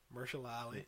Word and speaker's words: Mahershala Ali: It's got Mahershala Ali. That's how you say his name, right? Yeah. Yeah. Mahershala Ali.